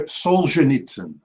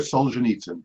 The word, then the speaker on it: Solzhenitsyn: him so we will not answer Alexander Alexander Solzhenitsyn Solzhenitsyn the right sorry John pronunciation was too far off both times could not accept okay Alexander Solzhenitsyn finally for ten points in Russian literature this